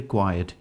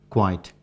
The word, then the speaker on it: quiet: please be quiet and one word here quiet q-u-i-e-t should not be pronounced quite quiet because quiet is something else for example it's quite